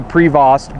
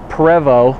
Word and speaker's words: Prevost: James - anyhow but if we were french-canadian we'd probably say Provo but we're not so we're gonna call it a Prevot anyhow h3 45 45